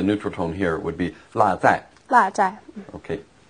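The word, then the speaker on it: 落: But here it's pronounced la is to forget something to leave it.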